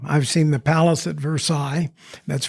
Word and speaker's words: Versailles: I've seen the Palace at Versailles. That's Versailles for those of you not familiar with the French pronunciation.